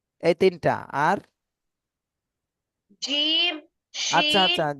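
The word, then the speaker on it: جيم: উপরে তালুর সঙ্গে তালুর সঙ্গে লাগাইয়া হ্যাঁ আরেকবার উচ্চারণ করেন তিনি জিম এইতো সুন্দর হয়েছে এবার আফসার বলেন জিম হ্যাঁ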